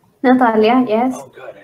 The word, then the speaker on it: Natalia: uh and did I say your name right Natalia Natalia yes oh good I said it right yeah